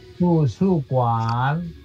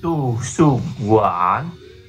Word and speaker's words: 图书馆: 馆bacanya ka mas ya tusu kuan tusu kuan tusu kuan oke sekarang Ira Xiaojie tusu kuan